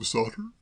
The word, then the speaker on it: Shotter: Sam Sotter? If you prefer it that way, certainly. I've always pronounced it Sam Shutter myself.